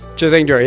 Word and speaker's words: Chazingdra: Chazingdra, yeah. That makes sense. Chaz plus Kingdra. A lot of people assume it's Charizard, but yeah, no. Very much Kingdra.